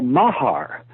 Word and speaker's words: Mahar: And they went to a place that the Puranas call Mahar, which is very close to Mars in the way it's pronounced.